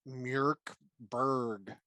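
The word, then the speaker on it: Mörk Borg: some familiarity with and i believe it is actually pronounced murkberg or something like that so i am not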